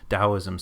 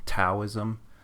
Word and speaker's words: Daoism: you might see be familiar with the term dosm spelled Tao ISM taism uh that's just an older fashioned style of romanizing the Chinese uh but now in the modern uh spelling it's usually spelled with a d dosm but it's the same